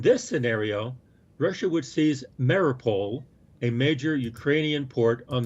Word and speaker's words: Mariupol: How do you pronounce that? Mariupol. Yeah. Mariupol.